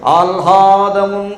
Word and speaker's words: ఆహ్లాదం: ఈ లా కింద హా ఒత్తు, హా కింద లా ఒత్తు ఎక్కడొచ్చినా ఆహ్లాదం అంటారు. హా కింద లా ఒత్తు పెట్టి మాట్లాడకూడదు. ఆహ్లాదమున్ అనాలి.